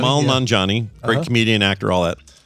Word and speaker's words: Nanjiani: Yeah, Kamal Nanjiani. Nanjiani.